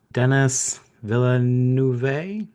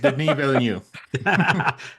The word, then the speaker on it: Denis Villeneuve: We've got Brady Corbett for The Brutalist, Dennis Villeneuve. I can never The say it right. Denis Villeneuve.